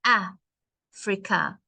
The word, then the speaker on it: Africa: push the the beginning ah frika the last a is a bit soft but the first a has a stress it has more push